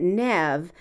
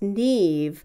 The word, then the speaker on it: Neve: Neve Campbell pronounces it Neve but I've also heard it pronounced Neve which is the Irish pronunciation and both are used in the United States Michael Buble disclosed the